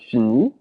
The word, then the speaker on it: finis: So notice how they're all pronounced the same way because the T and the S are not pronounced.